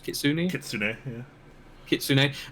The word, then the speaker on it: Kitsune: how does this Kitsune, is that how it's pronounced? Kitsune. Kitsune, yeah.